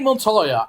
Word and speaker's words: Montoya: Okay, so Renee Montoya, and I pronounced the name correctly this time, and I did not edit this in any way whatsoever.